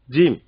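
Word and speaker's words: ج: சான்னு சொல்லும் போது நுனி நாக்கு மேல இருக்க 2 பல்லுல பட்டா எப்படி உச்சரிப்போமோ அது மாதிரி உச்சரிக்கணும், சா. அடுத்த எடுத்து பாருங்களேன், ஜீம்.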